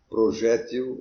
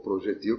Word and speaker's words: projétil: Por exemplo, nós até chegamos a pensar numa arma de fogo que projeta, aliás, tanto que usamos o vocábulo, o projétil, ou projetil, como queira pronunciar.